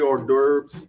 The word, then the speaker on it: hors d'oeuvres: Free hors d'oeuvres. Did I pronounce that right?